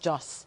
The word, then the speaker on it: Josh: It's not a silent H, just Joss.